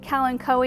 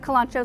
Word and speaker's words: Kalanchoe: table we've got some kalanchoe you might pronounce it kalanchoe e in our region we pronounce it culantro so that's what I'm going with there is one variety